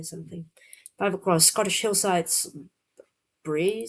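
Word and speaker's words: brae: Five across Scottish hillsides bree something that's is that pronounced correctly? Uh, let's check. Bray means hillside or riverbank in Scots. Uh, that's basically, but yeah, maybe it's Bray or B, but Bray sounds kind of right.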